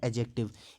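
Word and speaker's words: adjective: Third, अगर हम parts of speech देखें तो वो है एडजेक्टिव। इसमें डी हमेशा साइलेंट होता है, इसको हम एडजेक्टिव नहीं बोलते हैं, एडजेक्टिव बोलते हैं। डी जो है वो साइलेंट होता है।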